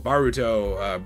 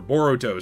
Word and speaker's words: Boruto: like one piece Naruto baruto or boruto sorry I was mispronouncing the name because I'm not a big Naruto guy uh dragon ball I